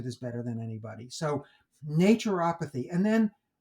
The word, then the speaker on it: naturopathy: So I put in Google a dictionary and just asked, they have a little pronunciation guide and they give naturopathy, which is fine with me, like nature, apathy.